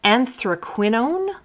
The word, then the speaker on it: anthraquinone: So this is anthraquinone carmine.